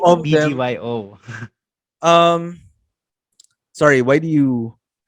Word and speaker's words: BGYO: and BGYO. The new one. BBYO is Yeah, the you call them Bagyo or what? No, you just call them BBYO. BGYO, I You think don't it's call them Bagyo.